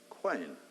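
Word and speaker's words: Qayin: It's from Cain, that we derive the word king, and interestingly, originally, it was spelt with a Q. Q-A-Y-I-N, quain.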